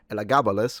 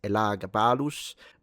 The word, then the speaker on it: Elagabalus: why we're not saying Elagabalus, which is the English pronunciation, not that it's wrong, but it we both know the phonemic vowel length of the name in Latin, it's Elagabalus uh with a little